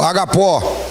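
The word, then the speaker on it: ἀγάπη: de Deus na expressão Ágape Ou se você quiser falar isso aqui né a maneira como se pronuncia aí no Grego agapó é o amor de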